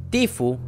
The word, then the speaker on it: Tfue: que no necesita presentación tifo que así se pronuncia amigos tifus el día